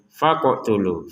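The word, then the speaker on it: فَاقْتُلُوا: Faqotulu. faqtulu. Jadi jangan sekedar faqtulu faqtulu enggak ada pantulannya kan. Jadi ini harus dipantulkan.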